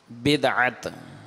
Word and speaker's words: بدعت: ہوگا، سنا بھی ہوگا۔ اس کا درست تلفظ بدعت، اس کے لغوی معنی